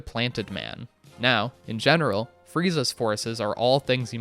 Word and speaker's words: Frieza: ask me how and Frieza is how someone with a Japanese accent would pronounce freezer the place you put all of the food we get some